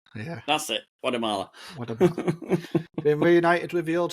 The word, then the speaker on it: Guatemala: The T is a D and the E is loud. There's no sharpness. It's Guatemala. Guatemala, yeah. That's it, Guatemala.